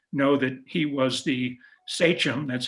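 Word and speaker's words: sachem: Many of you who know have your Mayflower history down know that he was the sichum, that's how it's pronounced, of the Wampenog tribe.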